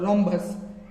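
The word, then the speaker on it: rhombus: जा रहे हैं यह रमस नहीं होता यह रमस नहीं होता यह होता है रोमस जिसके अंदर एच को हमें साइलेंटली पढ़ना है रोमस रोमस जो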